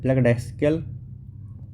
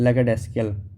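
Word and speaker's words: lackadaisical: लैकडेस्कल, ठीक है, not showing enough enthusiasm और केयर, मतलब उसमें लैक है क्या का? एंथुसियाज्म का, एंथुसियाज्म, लैकिंग एंथुसियाज्म। लैकडेस्कल, ठीक है, इसका प्रोनाउंसिएशन होगा लैकडेस्कल, लैकडेसिकल, लैकडेसिकल।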